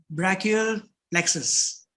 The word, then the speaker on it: brachial plexus: like to understand from you is what is brachial plexus am i pronouncing it correct yeah yes awesome and brachial